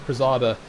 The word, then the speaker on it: Prezada: You pronounce his name by the second name in his PSN ID, so it's Prezada.